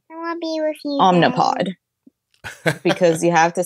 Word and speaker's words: Omnipod: And I'm always like, maybe I am saying it wrong. But then I look at it and I'm like, no, it's got an I. It's spelled with an I. So it's Omnipod.